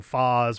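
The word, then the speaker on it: Phaaze: not insane for thinking Foz was a reasonable attempt at a pronunciation. Knowing that Phazon is a thing, Phase works also, but the double A is just like a little bit off to me. I can't think of anything that does double A's that is pronounced A in any language. In English, we've got A and Ah. And in Japanese, it would also just be ah.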